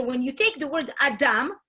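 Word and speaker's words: אדם: Adam. Adam. Adam is actually human. And so his name, Adam, is built of two syllables. Ah, from that aha, and dam.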